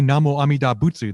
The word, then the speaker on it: Namo Amida Butsu: so when we say namo amidabutsu that's the japanese pronunciation of a chinese way to sound out an indian sanskrit to expression it's really